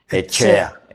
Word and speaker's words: Etxea: E t X e a Echea. Ajá. Esea, pero se pronuncia echea.